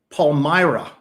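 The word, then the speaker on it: Palmyra: And uh Todd Dog said Paul Myra. There we go. Paulmyra. Thank you. Thank you to dog for correcting my pronunciation.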